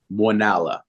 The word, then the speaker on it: Muenala: you can you tell us how do you pronounce your last name sure it is oneala ah good job I said that when I